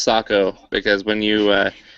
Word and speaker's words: Sako: And it is pronounced Sako because when you say Seiko, that's actually a watchmaker, and so if anyone Finnish hears you, they'll actually laugh at you.